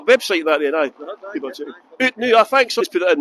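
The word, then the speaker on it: Oot Noo: out now, as in out now. Out now, but it's spelled Out now. the Scottish way.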